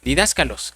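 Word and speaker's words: διδάσκαλος: Pues fíjese, hermano, que la palabra maestro se traduce de una palabra griega eh que se pronuncia didácalos, que es la número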